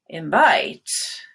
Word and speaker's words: invite: invite to her party invite so you go up on vite you start high on that and then you kind of glide down but we do that